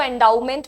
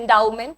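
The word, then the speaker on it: endowment: Social कुछ benefit या कुछ अच्छे कॉज के लिए जो पैसा होता है उसको एंडमेंट बोलते हैं। एंडाउमेंट।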